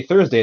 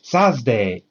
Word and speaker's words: Thursday: Yeah, When they're teaching, they often won't say Thursday, they'll say Sazday.